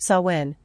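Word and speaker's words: Samhain: reckoned on November 1st known as sawin pronounced sawin and that culture seems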